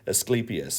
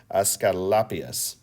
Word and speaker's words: Asclepius: story of us oh i can never say his name properly i always want to say asclepius but it's a scalpius oscar lapis there we go the roman way we start off with